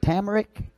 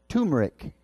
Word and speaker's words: turmeric: She asked, did we have any, what was it, tamaric? Is that how you say it? Yes, turmeric.